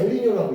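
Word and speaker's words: El Niño: 근데 이거 니노이 스페인 이거 좀 뾰쪽이 이렇게 붙여가지고 얘는 스페인어가 좀 언어가 다르잖아. 나 스페인어 전공은 안 했어. 그래서 읽을 때 엘리니오라고 읽는다고.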